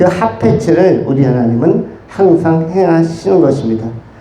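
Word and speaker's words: חפץ: 하페츠. 우리 은연면 쪽에 가다 보면 하페리가 나옵니다. 동두천 쪽으로 가다 보면 하페리. 그 발음과 비슷한 하페츠가 있는데, 이 하페츠가 뭐냐면 기뻐하다.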